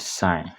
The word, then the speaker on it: sin: then tan Theta okay now this is how you pronounce them okay when we talk about sign now sign is given